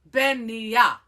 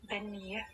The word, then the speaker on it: Beanighe: I'm like, it sounds like they're mixing the word beignet, like the pastry, and the word veneer.